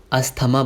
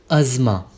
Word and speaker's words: अज़मा: अस्थमा बोलते हैं बहुत सारे लोग, अस्थमा हो गया उसे, अस्थमा की बीमारी है। नहीं, अज़मा। अज़मा।